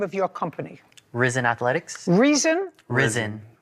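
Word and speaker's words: Rizin: what's the name of your company risen Athletics reisen risen risen spell it r i z i n space Athletics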